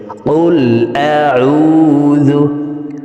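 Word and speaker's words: قُلْ أَعُوذُ: কুল আউযু, কফকে জিহ্বার গোড়া তার বরাবর উপরে তালের সঙ্গে লাগিয়ে উচ্চারণ করব। তো এই পেশওয়ালা কফটি জজমওয়ালা লামকে একবার ধরবে। কুল আউযু, আউ, আইনকে হলকের মধ্যখান থেকে উচ্চারণ করব, কারণ আইনের মখরাজ হলকের মধ্যখান থেকে হবে।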